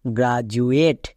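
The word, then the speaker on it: graduate: যেমন এখানে দেখো ডি এর আগে এ ভাওয়েল, ডি এর পরে ইউ ভাওয়েল, তাহলে এখানে ডি এর জন্য জো হবে। তাহলে এর উচ্চারণ কি দাঁড়াবে? GRA, গ্রা, DU, জু, ATE, এট, গ্রাজুয়েট, গ্র্যাজুয়েট।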